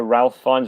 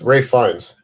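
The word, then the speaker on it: Ralph Fiennes: to them yeah um it's also ralph finds ray finds someone else is it yeah all right go on um i'm pretty sure i'm pretty sure that's just how you pronounce that name he's got a very long name yeah it's ray fines that's that guy how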